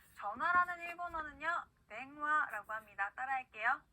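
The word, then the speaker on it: 電話: 네, 이응과 이응의 그 중간 발음으로 꼭 해주시면 되고요. 자, 전화라는 일본어는요, 땡화라고 합니다. 따라할게요. 땡화.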